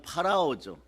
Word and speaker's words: 파라오: 모세와 아론이 정확한 발음은 파라오죠. 이걸 바로라고 하는데 이집트의 항제 파라오를 찾아가서 자 여호와 하나님의 명령이니 백성을 보내라고 해도 절대로 놔주지 않았습니다.